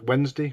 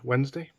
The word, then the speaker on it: Wednesday: Wednesday, that's Wednesday, Wednesday.